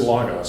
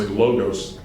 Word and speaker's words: logos: a book or something, people say logos, it's not logos, it's logos. Because this is either, you want to call it a short O or a short A sound. This is a long O sound.